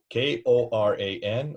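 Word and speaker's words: Qur'an: For people who jump you on that, how do you spell the word Quran today? Koran or Qur''an? Are not both correct?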